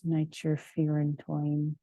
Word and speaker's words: nitrofurantoin: And then I liked this saying, if you have a fury in your groin, use nitrofurantoin, which it's pronounced toin, but at the time I did not know that.